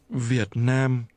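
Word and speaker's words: Việt Nam: Vietnam Vietnam Vietnam Vietnam this is pronounced with low falling broken and mid-level tones Vietnam say again Vietnam Vietnam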